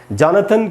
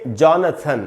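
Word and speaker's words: Jonathan: और इसको दोस्तों हम पढ़ेंगे जॉनथन। इसको जोनाथन नहीं पढ़ना है जैसा हिंदी में लिखा रहता है जोनाथन। जोनाथन नहीं होगा, जोनाथन स्विफ्ट जो मेरे ख्याल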